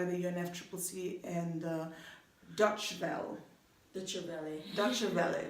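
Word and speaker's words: Deutsche Welle: Dutch Valley, that's how you pronounce DW.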